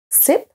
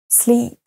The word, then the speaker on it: sleep: read et par exemple slip sleep slip sleep dans le premier cas le mot se traduit par glisser to slep et le deuxè sleep dormir donc vous voyez bien que si jamais vous prononcez pas le i suffisamment long on peut comprendre un autre mot ou ça peut prêter